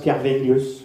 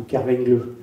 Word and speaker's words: Kerminglus: de Breton hein mais après Ker normalement la lettre M s'adousi en V s'il y a rien entre les deux et donc un toponyme qui est noté kerminglus en réalité en breton le prononce kvenglus ou kvengle avec un V et non pas un M donc et parfois il